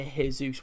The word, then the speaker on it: Jesus: And they don't say it like Jesus, they say the J, which is weird.